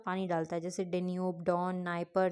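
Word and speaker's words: Dnieper: होता है Danube don नाइप नाइप है पर आगे डी लगा हुआ है निस्टर है पर आगे डी लगा हुआ है ठीक है मतलब डी साइलेंट है तो डेन्यूब डॉन नाइप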